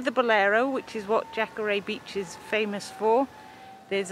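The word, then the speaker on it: Jacaré: things well we're jacker a beach and I think I said it right this time we've had our knuckles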